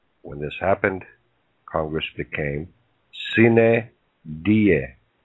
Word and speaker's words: sine die: Under the parliamentary law of Congress, when this happened, Congress became sine die, pronounced sine dia.